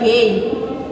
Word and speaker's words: game: the word game, G-A-M-E, we'll notice here that this word have 2 vowels in it, but only one of the vowels is making sound, and it is the vowel A. It's making the A sound. It's saying it's only. This vowel here is silent.